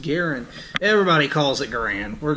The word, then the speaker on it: Garand: say garand it's not a Capri and it's pronounced Garen everybody calls it grin we're just going to